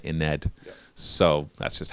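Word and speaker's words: Ynnead: And then when it comes to Yanid, on their videos, they've been calling it Ined.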